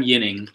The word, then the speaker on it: Ginning: so we pick Adam yuning soft Jay or soft G I'm sorry you don't often see a soft cheek it's not he's not French he's Swedish that's that same thing